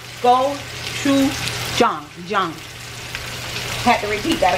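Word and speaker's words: 고추장: want to try that chicken and the name goou Chong go Chu Jong Jong had to repeat that a couple times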